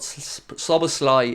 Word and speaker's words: Szoboszlai: Dominic sober Sly and I've been pulled up by pronunciation so apologies it's so much sober Sly apparently look we love them